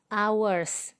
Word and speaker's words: hour: Begitu pula sebaliknya, adapun kata benda yang penulisan awalnya konsonan tapi pengucapannya vokal, maka harus menggunakan artikel en. Contohnya, hours, baca hour.